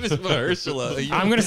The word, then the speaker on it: Mahershala: Well, be interesting to see where they go with Maharsha Ali, the newly announced. His name is Mahershala.